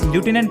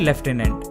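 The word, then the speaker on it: lieutenant: इसे अब लेफ्टिनेंट भी प्रोनाउंस किया जाता है। इसमें कंफ्यूज होने की जरूरत नहीं है। बेसिकली अमेरिकन इंग्लिश में इसे एज ल्यूटिनेंट प्रोनाउंस किया जाता है और ब्रिटिश इंग्लिश में लेफ्टिनेंट। इसलिए सभी कॉमनवेल्थ कंट्रीज में इसे एज लेफ्टिनेंट प्रोनाउंस किया जाता है। एंड फॉर the same reason India में भी लेफ्टिनेंट ही बोला जाता है।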